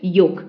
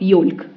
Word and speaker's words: yolk: that yellow substance and you call it yolk not yolk it's yolk and the other thing